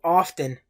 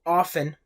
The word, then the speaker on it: often: Luego tenemos el adverbio often, también pronunciado often. Ambas pronunciaciones son correctas. La T puede ser muda y ambas pronunciaciones son aceptables.